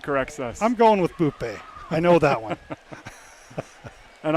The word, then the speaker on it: Bupe: It's spelled B-U-P-E, but it's pronounced Bupe.